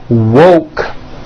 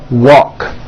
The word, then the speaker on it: woke: Instead of saying woke, when they say it, it sounds like walk. So instead of saying I just woke up, it sounds like I just walk up.